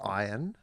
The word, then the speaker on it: Ian: Well, firstly, his name is pronounced Ian because I have met Ian Ziering.